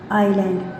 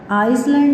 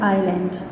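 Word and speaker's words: island: S is not pronounced before L in the following words. ये जो words हैं इसमें एल से पहले एस जो आएगा वो साइलेंट होगा. आइलैंड, आइसलैंड नहीं हम बोलते हैं आइलैंड.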